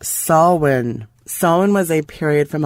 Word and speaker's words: Samhain: h AI n it's an Irish pronunciation pronounced saw when someone was a period